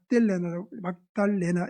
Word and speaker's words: 막달라: 누구의 딸 이렇게 하기도 하고, 어느 지역의 누구, 우리가 한만댁 무슨 진주댁 이런 식으로 말하는 것처럼 막달라 마리아는 갈릴리 인근의 막달라, 막달레나 이렇게 발음하기도 하는데, 그 막달라라는 지역 출신의 여성입니다.